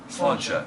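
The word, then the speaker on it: Sláinte: Slánse.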